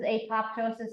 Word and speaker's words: apoptosis: always remember this as apoptosis it makes cells pop even though you're not supposed to say the second P it's like pterodactyl it has silent P I don't know why